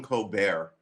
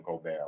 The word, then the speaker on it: Colbert: famous stephen the stephen colbert show versus the stephen colbert show how do you pronounce ober hold on cold bear with a silent t on the end new he wasn't like